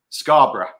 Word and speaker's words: Scarborough: Scarborough.